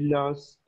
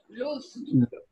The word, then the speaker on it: lose: Pero esto en presente no se dice los. Esto en presente se pronuncia luz.